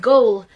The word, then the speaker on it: goal: Now note the difference with goal, which rhymes with foal and dole and roll.